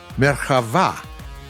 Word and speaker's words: Merkava: it was given the name of merchava with stress on the last syllable meaning chariot in hebrew the first time the